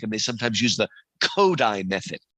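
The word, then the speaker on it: Kodály: So my daughter teaches music and they sometimes use the kodai method. It looks like kodaly but it's pronounced kodai.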